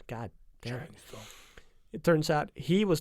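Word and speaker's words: Shang Tsung: oh, you And mean then that turns into being Sang Shun. Yeah. Shun. God, I can't- Sang Shun? Sun. Chang Chang Sun. Chang Sun. That's how you say it. God damn it. Chang Sun.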